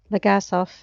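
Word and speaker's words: Legasov: to choke him already i was trying to add an r in his name so that's why i was saying it wrong legas off is not so hard to say i noticed the wonkiness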